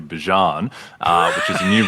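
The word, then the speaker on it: Bijan: Uh Bjan has changed his pronunciation from Bejian to Bjan.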